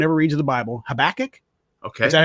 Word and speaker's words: Habakkuk: that no one ever reads in the bible habakkuk okay is that how you say it solid yeah sweet all right habakkuk i read habakkuk the day before and it's